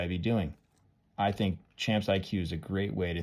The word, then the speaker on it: Champs IQ: I tried with one of my players called Champs IQ. Kind of confusing because it's spelled different.